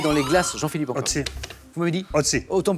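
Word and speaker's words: Ötzi: Donc ça s'écrit Otzi avec un O tréma, donc on prononce Eudzi, Audi, très très bien.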